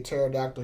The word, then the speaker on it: pterodactyl: can't you hear a pterodactyl use the restroom because the p is silent you get it you